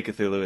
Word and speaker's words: Cthulhu: The reason they call it that is because Cthulhu, which we say Cthulhu, it's supposed to be an unpronounceable kind of name. Yeah, it's like Cthulhu. That's as close as we can get to it.